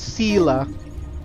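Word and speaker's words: Seele: always yelling at people I keep saying her name wrong it's Selah can you give me some the vagrance injuries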